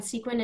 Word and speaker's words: SEQuYN: So like I said, SEQuYN is the Sex Education Queer Youth Need. The U is silent.